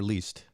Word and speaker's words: Leist: of your last name is it lyst or least uh lice yes so um sarah leist